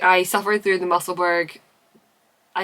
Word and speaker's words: Musselburgh: I hated when someone said Musselburgh, it's Musselburgh. It drives me up the wall, and I understand why, because in most places in the world, like the way that UGH is pronounced is erg.